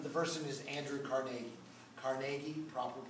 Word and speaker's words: Carnegie: a metaphor but the person is andrew carnegie carnegie proper pronunciation i don't care what she says andrew